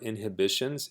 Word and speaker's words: inhibition: as an adjective or inhibitions is a noun notice that this h is silent normally but for some reason when it turns into a noun the h becomes pronounced in inhibition here you